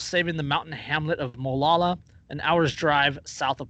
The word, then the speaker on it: Molalla: Is that how you pronounce it? Mollalla. I'd say Molalla. Sounds right. Molalla, Oregon.